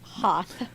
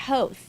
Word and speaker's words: Hoth: mispronounced the word ha he didn't know how to say the name of the planet hoth I'm not a witch I mean I have mispronounced things so you know right I'm totally being mean here but he he called it host well and I'm